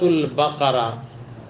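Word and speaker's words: البقرة: ہے سورت کا نام۔ ہم اس کو یا تو قاف کے بجائے کاف کے تلفظ سے سورۃ بقرہ کہتے ہیں، تو یہ سورۃ البقرہ، بقرہ کا معنی گائے،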